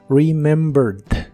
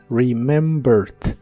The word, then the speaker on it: remembered: que en el pasado se le agrega e d al final Aunque solo se pronuncia la d remembered remembered lo puedes usar en